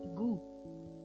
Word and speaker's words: goût: So, the final T in certain words, like but, a goal, is nearly always pronounced, but not in goût, for taste.